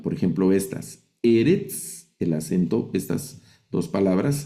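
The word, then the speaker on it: אֶרֶץ: la regla dice que las palabras milel se acentúan en la penúltima sílaba. Penúltima sílaba. Esta se lee Eretz, que significa tierra.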